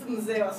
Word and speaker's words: Mzee wa Swagga: Is it MZEE or MZEE WA SWAGGA? It's MZEE WA SWAGGA. Oh my goodness. You know, because it's spelled M-Z-E-E.